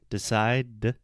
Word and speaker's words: decide: you say the sound decide the last sound is a D we don't pronounce the e at the end so so it's decided